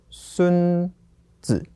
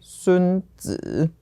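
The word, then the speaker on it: 孙子: Okay, and this is the same for 孙子. Also fifth tone. Okay, and this would here just be the ending. But if I say 孙子, then that would be the person, the Art of War. 孙子. Yeah. Oh. So if it's a person, it follows an esteemed person title, third tone. But for 儿子, 孙子, the titles of son and grandson, that is the fifth tone.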